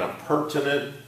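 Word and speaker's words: appurtenant: nint perm to net now you know what does this sound a lot like sounds like a tenant okay a purr so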